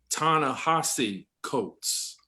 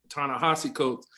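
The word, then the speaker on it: Ta-Nehisi Coates: uh the individual uh he gave it to us phonetically also tana hossie coats tana hosse coates and then destiny my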